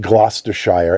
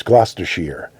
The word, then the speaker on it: Gloucestershire: It's not Gloucestershire, it's Gloucestershire. It's always sheer. It's never Shire.